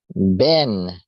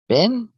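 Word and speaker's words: בן: s o n how how do you pronounce sun sun son in Hebrew or arama Ben Ben well it's it's got B with a e and a line of over it and then n Ben and the symbol it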